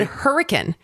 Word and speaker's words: Hurricane: Colleen, I just said Hurricane. It's Hurricane. Right. It's spelled Hurricane, but it's Hurricane.